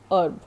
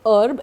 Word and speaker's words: herb: Its actual pronunciation is herb. आपको पता है जड़ी बूटी को herb कहते हैं. So it is herb, and E is stressed, H is silent.